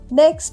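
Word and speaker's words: knock: নো নো মানে জানা আই নো the answer আমি উত্তরটা জানি নেক্সট হল কে এন আই FE knife মানে ছুরি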